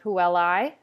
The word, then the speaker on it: puellae: that make one sound the first one is i pronounced like i'll lie or dry we see this in the word puellae and saipe the second one is